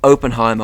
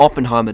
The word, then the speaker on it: Oppenheimer: I got Oppenheimer, or Oppenheimer, depending on how you say it.